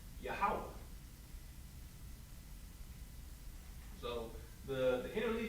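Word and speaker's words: Yahweh: linear we see a word that says Jehovah or as they wrote it out yahovah right but we in the Israelite School practical knowledge we know this word is actually supposed supposed to be pronounced yahwah so the the inter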